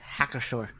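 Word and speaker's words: Hacker-Pschorr: It's Hackershore. Yes. So There's a P there, and I'm confused. Yes. Yeah, for sure. The P is silent.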